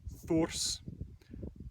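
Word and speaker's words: þurs: Then there's thors, modern Icelandic thus without the r usually pronounced, the meaning of which is a giant.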